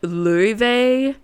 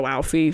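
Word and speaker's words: Laufey: f y ly and she's Icelandic so it's pronounced like lve but she says it's fine if people call her walie she's like that's fine it's fine but it's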